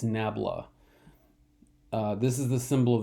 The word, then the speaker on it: nabla: plane has, I believe the upside down triangle is pronounced nabla, or is it nambla? I think it's nabla.